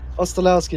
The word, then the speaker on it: Ostolowski: But we do have Bartosz Ostolowski. Oh, please tell me I said that right. Ostolowski. Ostolowski, that's the one.